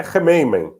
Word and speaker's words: Khmeimim: Mesmo no mundo árabe, na realidade, eu falo armênio, não falo árabe, mas mesmo no mundo árabe tem algumas diferenças de pronúncia, mas basicamente é Rameymen.